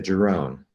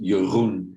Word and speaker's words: Jeroen: I'll pronounce it in Dutch as well for the listeners here. It's called Jeroen in Dutch.